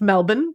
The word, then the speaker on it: Melbourne: More specifically, Melbourne, pronounced Melbourne.